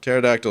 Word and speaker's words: pterodactyl: Q I don't know pterodactyl is spelled in such a weird way it's either Q or Z is the first letter the p is silent BG maybe your p